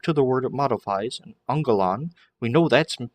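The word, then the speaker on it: ἄγγελον: gail on it's anger remember the nasal gamma two gammas together pronounced on sound so angelon and it is a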